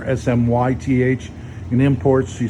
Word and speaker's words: Smyth: It's like Smith, but just put a Y there, SMYTH.